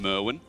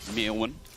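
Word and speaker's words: Myrwn: get the pronunciation R to keep calling him Merwin like he's Steve Owen's cousin or something mewin proper pronunciation important enough getting poked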